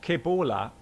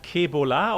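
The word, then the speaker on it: ¿Qué bola?: do you pronounce that ke Bola or kebola the first que Bola okay thanks all right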